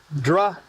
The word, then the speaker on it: drow: You got d row, right? Row as in row or you've got dra. Yeah. And I'm like, but I like dro better.